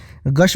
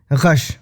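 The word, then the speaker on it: ग़श: एक शब्द है गश, बोलता है ना मैं गश खा के गिर गया, तो हम लोग जनरली उसको गश बोलते हैं, पर गलत है वो। गश, ग के नीचे नुक्ता है।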